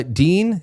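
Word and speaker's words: Dienlind: Uh Dean, that's how you say it.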